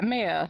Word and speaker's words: Meia: Yeah, Meia, like the month of May.